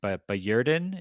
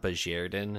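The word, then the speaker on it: Bajerden: I did get excited when I saw Noadon, or his other name, Bajerdin. Is that how you say it? It's like a J sound. Bajerdin is how they Bajerdin?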